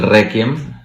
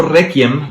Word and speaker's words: Requiem: Entonces la misa de Mozart es el Requiem, ¿no? Okay. Que yo siempre le he dicho Requiem, pero en realidad es Requiem, porque la QU se pronuncia QU, no Ki, como en español.